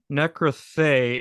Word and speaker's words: Nekroí Theoí: your you work with three bands 707 eyes necroy theory if I'm saying that right and skin stripper uh yes that's that's correct um necrathe is the correct pronunciation of that I know it's a it's